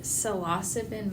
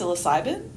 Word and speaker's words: psilocybin: So to start off, our listeners may not be familiar with salosipin mushrooms. So what are they? Well, first of all, it's actually pronounced psilocybin.